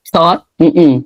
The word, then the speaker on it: thought: Thought. So this is different. GH, sometimes you pronounce it like a F, like cough. Oh, like tough. Throughout.